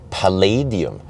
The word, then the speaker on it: Palladium: it was called long range and actually I mispronounced it it's Palladium Palladium is a very expensive material similar to